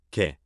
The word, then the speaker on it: แก่: 가까운 친구들과 แก่ 개, 앞에 지가 붙은 알파벳 A처럼 들립니다.